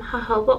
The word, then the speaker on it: jojoba: So all this is, let me see if I can find, all this is I put some jojoba oil, that's how you say it, and then